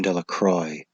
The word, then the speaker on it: Delacroix: Bobby and Harry Jones and Dickie Delacroix, the villagers pronounced his name Delacroix, eventually made a great